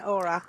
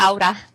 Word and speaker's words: Aura: I am Lithuanian, and I've met 2 or 3 other auras, or they pronounce it aura in Lithuanian. Aura. Aura, with the rolling R.